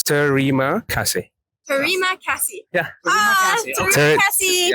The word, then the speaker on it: Terima kasih: It's a 3 syllables. Terima kasih.